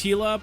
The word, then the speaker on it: Gila: heck K hiate but I'm also the guy that still pronounces Gila with the heart I I couldn't give I couldn't give a like if you say Gila or hila technically it's hila because we literally have